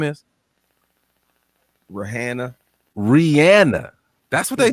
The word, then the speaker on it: Rihanna: They say, do you know what they say the correct pronunciation of her name is? Rihanna.